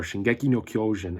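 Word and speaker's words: 進撃の巨人: Attack on Titan, or Shingeki no Kyojin as it is pronounced in Japanese, is a Japanese manga, and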